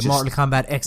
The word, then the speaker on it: Mortal Kombat X: I think it's X I'm pretty sure it's pronounced X even though it's the 10th game it's X okay Mortal Kombat X is this Mortal Kombat